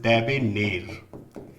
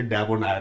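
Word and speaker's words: debonair: डेबेनेर की अगर हम बात करें, the right pronunciation of this word is डेबेनेर। याद रखिएगा, बहुत सारे लोग इसे डेबोनायर बोलते हैं, डेबोनायर नहीं होता।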